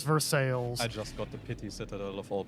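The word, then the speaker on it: Versailles: is still Prague okay but ver sales is veres I just got the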